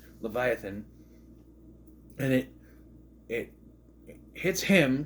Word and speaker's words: Leviathan: out was called the Leviathan he what she pronounced leviathon Leviathan and it it hits him because as we